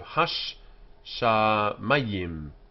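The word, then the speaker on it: הַשָּׁמַיִם: So hash sha mayim, hash sha mayim. And here we have ham mayim. In modern Hebrew, this doubling is not generally observed. People are a bit sloppy with their pronunciation, but it should be done.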